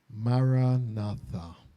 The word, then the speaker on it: Maranatha: and remember the word Maranatha I say the word together Myra bow and we break it into four syllables of equal lengths and then we break